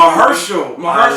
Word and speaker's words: Mahershala: Mahershala. That's how you say it.